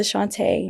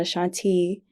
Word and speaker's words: Ashaunté: No one even knows how to pronounce my name. I don't even say it enough, you know? So like it's Ashaunté, not Ashaunté for everyone.